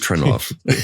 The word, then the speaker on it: Trinnov: Am I pronouncing it right? It is. Yes, it is Trinnov.